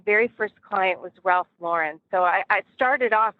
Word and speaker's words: Lauren: never heard of Ralph Lauren but I didn't even know that people say his name wrong all the time a lot of people say Ralph luren so now you can